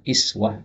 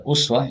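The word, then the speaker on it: أسوة: Hasanah tauladan yang baik ini boleh dibaca kiswah oleh dibaca Uswah mayoritas ulama qiroah membacanya iswah dengan kasrah hanya satu aneh qiraat yang membaca Uswah yaitu Imam ashim bin Abi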